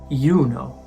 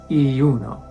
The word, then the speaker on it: Juno: Or this name, the Roman name for Hera, Juno, not Iuno.